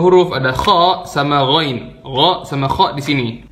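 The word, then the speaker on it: غ: Jadi salah lah kalau orang bilang gha itu bacanya go. Kalau go itu berarti dia di sini dong posisinya sama kayak qaf. Dan sebagian orang ngomong go itu kayak huruf g. Goin itu kayak huruf kaf.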